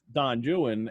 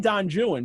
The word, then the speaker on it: Don Juan: time and um and i keep saying don joon because i know that's how it's pronounced and it's rhymed that way in the poem too and it's not from